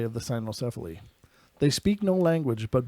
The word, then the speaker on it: cynocephali: These canine men, also known as the cynocephali, pronounced cynocephali.